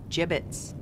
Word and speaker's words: gibbets: some gibbets left over gibbets what it's pronounced jibbets are you sure yeah